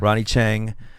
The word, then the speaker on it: Ronny Chieng: all that stuff but uh I'm here with Ronnie Ching of is that I pronounced that right you're gonna chain yeah Ronny Chang of The Daily Show and stand-up comedian hey